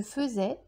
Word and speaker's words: faisais: le verbe faire que le radical fait se prononce feu je faisais tu faisais mais ça s'écrit ai écrire j'écrivais tu écrivais